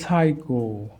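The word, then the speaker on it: psycho: আমাদের খেয়াল রাখতে হবে যদি পিএস থাকে মানে ওয়ার্ডের শুরুতে যেমন সাইকো এই পির উচ্চারণ হচ্ছে না সাইকি পির উচ্চারণ হচ্ছে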